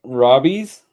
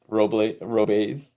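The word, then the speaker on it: Robles: Uh, one is I know it is um, yeah, like I'm going to pronounce that one. No. Uh, Robbies, Victor Robbies and Addison Burger. Roblaze Roblaze.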